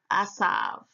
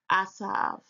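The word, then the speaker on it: Esav: Strong's H6215 pronounces it as Asav. Asav.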